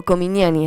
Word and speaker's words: Comignani: Y además me va a corregir si pronuncio mal el apellido, por supuesto. Mauro Comignani es arquitecto, abogado y martillero.